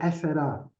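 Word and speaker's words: έφερα: So ephera I brought, but they brought it to us, ephera nemasato, with only one stress on the first syllable.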